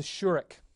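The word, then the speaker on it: shureq: And it's going to be pronounced just like the kibbutz. So it's the U as in flute.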